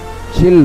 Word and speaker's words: Chile: How am I supposed to pronounce this country? Chili. Chile.